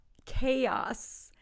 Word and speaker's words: chaos: the next one is chaos chaos two syllables but the first sound is a chaos chaos is when